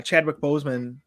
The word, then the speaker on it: Chadwick Boseman: sad um with you know seeing the uh Chadwick Boseman did I say his name right yes yeah